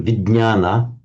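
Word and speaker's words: विज्ञान: Um V in Sanskrit would be vana this is pronounced as a vign sound in Sanskrit. So vignana which is the one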